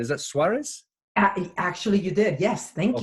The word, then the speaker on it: Suárez: I hope I pronounced that right is that Suarez?